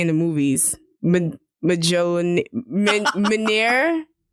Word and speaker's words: Mjolnir: Yeah, the J is silent.